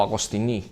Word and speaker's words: Agostini: ellos que se llama felipe agostini o agostini como pronuncian los franceses y se reunió con